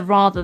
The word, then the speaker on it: rather: one at the end the r at the start we actually we pronounce and when we create the art on like a rather raw rather but at the very end of the word we don't actually pronounce the r sound and this is one